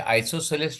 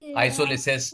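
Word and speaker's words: isosceles: आइसोसेलस triangle में क्या था? अच्छा इसका स्पेलिंग बोलने को आना चाहिए तुमको। आइसोलेसिस कोई आइसोपिलेस। ऐसे कोई अलग-अलग बोलता है। इसको बोलते हैं आइसोसेलस।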